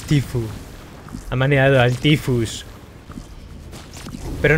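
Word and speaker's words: Tfue: A Tefue. A Tifu, que quiere que... Que lo pronunciemos bien, los hispanos cabrones que somos. Que lo pronunciamos mal. Es Tifu.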